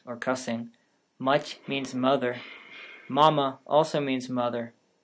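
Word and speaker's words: мама: cussing much means mother mama also means mother in checkmate the m and t are non-partialized in mother the m is non-parallelized and the t is palatalized in mama both m's are non-partialized mamma in miyasa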